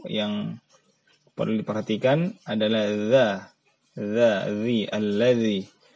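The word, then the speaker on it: الذي: Jadi ujung lidah diletakkan di antara gigi atas dan bawah. Jadi diletakkan ya, tidak digigit, diletakkan saja. Dan diucapkan tanpa ada suara hams dan suara getar. Ada karena terkadang ada di antara kita yang baca dengan allazi itu bergetar. Padahal dia keluar dengan tidak bergetar.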